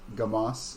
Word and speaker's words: Gamas: a good mosque yes am i saying it right yeah we're in dumbass no it is uh gamas oh g-a-m-a-s i just heard that